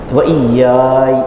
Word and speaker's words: وَإِيَّايَ: جزم کرنا ہو تو یا کی آواز لا کر کے درمیان میں چھوڑنا پڑے گا۔ وَإِيَّايَ کیسے پڑھیں گے؟ وَإِيَّايَ، بس، تو یہ نہ زیر نہ زبر نہ پیش، یہ بڑا یعنی تھوڑا مشکل تلفظ ہے، ہم پنڈے کے زمانے